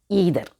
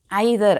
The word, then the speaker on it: either: Okay, next ஈதர். ஈதரை ஐதர் அப்படின்னு கூட pronounce பண்ணலாம்.